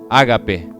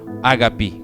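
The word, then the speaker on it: ἀγάπη: que hablar de amor, hablar de ágape, ágapi, como se pronuncia, no se trata de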